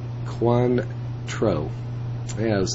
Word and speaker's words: Cointreau: Pronounced Cointreau.